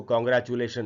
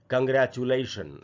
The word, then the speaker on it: congratulation: दूसरा जो वर्ड है दोस्तों वो है CONGRATULATION, और हम लोग अक्सर इसको कॉन्ग्रेचुलेशन ऐसे पढ़ते हैं। इसका जो करेक्ट प्रोनाउंसिएशन है वो है कंग्रेचुलेशन।